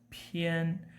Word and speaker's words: 片: When you pronounce 照片, so the word 片, the syllable 片, you need to take air out of your mouth. 片, 照片.